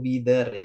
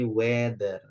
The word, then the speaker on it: weather: Sedikit koreksian cara baca cuaca bukan wither ya, tapi weather.